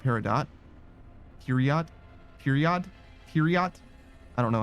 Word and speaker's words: Peridot: a character Peridot, but I would always think it was pronounced Peridot, like a silent T and a hard O, long O.